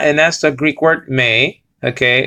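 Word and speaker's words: μή: It says over here not, and that's the Greek word may. Okay, it's translating the Greek word may, mu eta. Nowadays it will be pronounced me, but we're not talking about modern pronunciation of Greek here.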